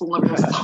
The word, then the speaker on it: Leviosa: I think it's pronounced Leviosa. It's not pronounced Wingardium Leviosa. It's Leviosa.